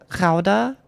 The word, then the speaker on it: Gouda: The OU is pronounced like the O and how. And G is a frictive created with a back of your mouth, like Gouda.